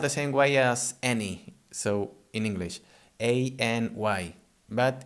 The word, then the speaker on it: any: This any is spelled the same way as any, so in English, A-N-Y, but it's pronounced any.